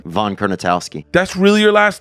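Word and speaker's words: Kurnatowski: Von Kernitowski.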